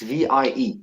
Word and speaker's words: Vie: It's VIE. It's V in French, life, but Oh, wow. pronounced as Vi.